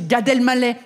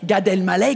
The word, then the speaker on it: Gad Elmaleh: Parce que pendant longtemps, je pensais qu'il s'appelait Gad Elmaleh. C'est-à-dire Gadel, plus loin, Maleh. Parce que vous, vous mettez la pause après Gadel.